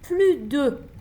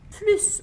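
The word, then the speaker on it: plus: Olumsuz bir cümle yapısında plüdü ifadesi daha fazla anlamına gelmez. Plübomu artık yemiyorum, artık şeker yemiyorum anlamına gelir. E zaten daha fazla anlamına geldiği zaman bu plü değil de plüs olarak eee telaffuz edilir.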